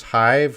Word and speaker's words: hive: Robin, look at this hive. Hive has the same pronunciation as five. Yes, hive and five, they rhyme.